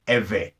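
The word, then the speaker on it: עברי: you dredge bait iron in English you will spell this IV RI and is pronounced ever so the text would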